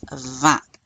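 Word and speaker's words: vingt: 17 and then 20 is va. You do not pronounce the g or the t.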